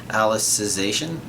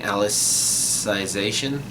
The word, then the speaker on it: Alicization: So Alicization. I think I've been saying Alicization. Like I've been putting not only emphasis but also pronouncing that second I strongly.